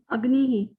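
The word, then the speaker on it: अग्निः: Agnihi. Agnihi. Rupa ji, do you know why we pronounce this visarga as he?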